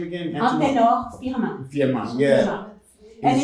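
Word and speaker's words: Anténor Firmin: Antenor Firmin.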